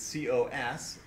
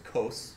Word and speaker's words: cos: Cosine, which is abbreviated C-O-S, and often pronounced as cos, so you can call that cos.